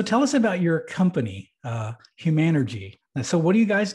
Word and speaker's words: Humanergy: And you got the pronunciation right. I was careful about that. Yeah, Humanergy.